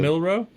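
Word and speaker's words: Milroe: Seahawks took Jaylen Miller from Alabama. Obviously Jayen Milro.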